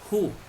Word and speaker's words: who: Who. Como una H aspirada.